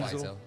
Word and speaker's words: Wiesel: Last name spelled like Weasel. Yeah, but it's yeah. Wiesel. Yeah, it's Zvi How do you Wiesel.